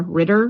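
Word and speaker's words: Reiter: I want I hope I'm saying it right, but it's R E I T E R. Ritter writer family. Writer. I think it's writer.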